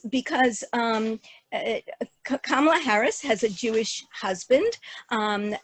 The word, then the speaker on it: Kamala: one source said that it was chosen because it told them how to pronounce Kamala, and it's a good reminder of how to pronounce her name.